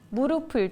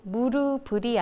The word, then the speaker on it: 무릎을: 꼬치로 가름 하셔야 하고요 무릎을 도 무릎 을이 아니 무릎을 그리고 가장 많이 틀리는